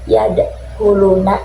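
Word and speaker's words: يدخلون: Yadkhuluna. Nah, itu juga sama ya teman-teman. Itu juga bacanya dipantulkan. Kalau misalnya kalian bacanya yadkhuluna itu salah ya. Yang benar itu yadkhuluna.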